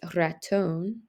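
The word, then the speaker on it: ratón: no accent there but on some of these words such as Raton you do have an accent on last syllable and that has something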